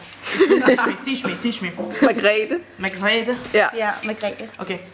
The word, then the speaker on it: Margrete: how say her name te me Teach me Margrete Margrete Ja ja Margrete Okay magrete Ja ja Good the most gorgeous ever seen